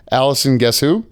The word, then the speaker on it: Alison Guessou: I didn't ask how to pronounce it, but I listened to enough interviews. Alison Guessou. That is right. First try.